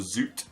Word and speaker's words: Zoet: we've got a goalkeeper of Zoet or zut as I'm told he's pronounced already three goals for